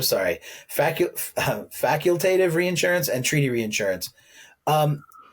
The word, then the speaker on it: facultative: reinsurance and treaty reinsurance am I pronouncing faculative factually facultative facultative come on yeah all right facultative all right well you're the director facultative major I'm a theology major facultative faculative yeah it's not faculative sorry fac facultative reinsurance